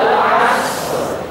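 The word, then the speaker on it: الْعَصْر: contoh Wal as Wal asr asr asr jadi ketika asr ro mulut membuka ujung lidah miring ke atas bertemu langit-langit seperti yang digambar walasr walasr asr as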